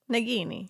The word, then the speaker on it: Nagini: That's the hard G.